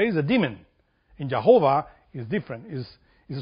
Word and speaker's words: Jehovah: not the name of God the y means pronounced yahovah or Y cabalistic speaking y that's the right